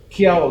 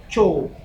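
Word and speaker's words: Kyaw: misalkan kayak Myanmar, Kiao gitu kan. Ternyata bukan Kiao dibacanya, Chow.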